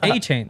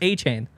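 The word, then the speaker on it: Achane: It's A-Chain. Be unconfident in him. Trust me, it's A-Chain.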